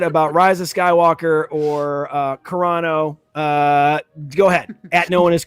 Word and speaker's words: Carano: that i said about riza skywalker or uh carano uh go ahead knowing his chris come find pronounced corona chris all right where can they find the